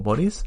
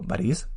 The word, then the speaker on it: Boris: el acento por tanto no digo bolis strugatski digo parís que es como se pronuncia en ruso y bueno simplemente ese